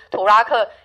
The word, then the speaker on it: 土拉客: 最后一个意思我们要用台湾的母语，台湾的母语之一，宜兰的母语之一来发音，就是土拉克，也是托拉库的意思。